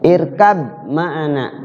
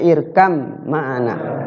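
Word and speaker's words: ٱرْكَب مَّعَنَا: sama ba ketemu mim irkab mana irkab mana itu dibacanya irkam maana ya bnya enggak terbaca itu mutajanisain eh mutaqoribain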